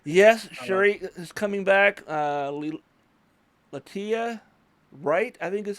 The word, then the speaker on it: Letitia Wright: Latia Wright, I think is how you pronounce her name. Letitia Wright.